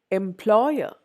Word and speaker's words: employer: Employer. Employee. See, employee. അവിടെ last സിലബിളിലാണ് stress വരുന്നത്. എംപ്ലോയർ. അവിടെ second syllable. എംപ്ലോയർ. Second syllable. Employer. I don't say employer. I don't say employer. I say employer.